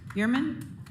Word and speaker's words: Biermann: next we have christina biermann please state your name and count your residence and you'll have three minutes to speak you said it right it's german christina garriman uh knox